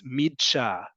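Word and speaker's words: מדרש: You can pronounce it and you'd be absolutely correct. It's midsha. It's a little hard to pronounce because it's a couple letters that don't cooperate in the way that we'd like to think in other languages, but it's midsha.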